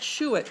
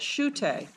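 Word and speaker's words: Schuette: five of your handout it looks like Shu it but Professor seagull tells me you pronounce that Sho so for for future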